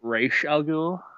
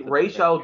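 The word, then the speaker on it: Ra's al Ghul: Wait, they're making where they pronounce it re algul. What's that? Well, technically Ray Sha is the correct pronunciation. It's the films that that do it wrong.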